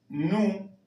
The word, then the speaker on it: no: Acá ustedes verán escrito no. Su pronunciación va a ser nu.